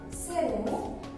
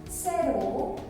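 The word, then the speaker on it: cero: Zero. The C is pronounced here with the S sound. So 0 is zero.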